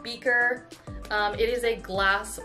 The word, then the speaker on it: BKR: called so at first i thought it was pronounced bkr but it is pronounced beaker um it is a glass water bottle that's